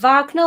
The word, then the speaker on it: Wagner: was i'm going to pronounce that wagner like the musician yeah like popularize the